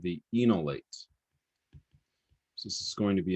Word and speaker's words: enolate: introduction to enolates and enolate chemistry okay so this is pronounced again in there's that e n that we as chemists all pronounce as in even though it like is missing an e um enolate okay so